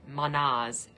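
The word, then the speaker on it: Mannaz: And it's literally pronounced like man, but man.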